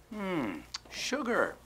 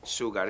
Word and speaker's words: sugar: Sugar. Cuidado con la pronunciación aquí. No es sugar, es sugar. Sugar.